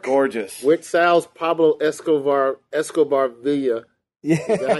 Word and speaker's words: villa: Yeah, the double L's, it's like a yeah. Villa. No, but in Spanish, it's Y. Right, like Villa.